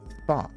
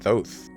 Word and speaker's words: Thoth: Oh, it's pronounced Thoth.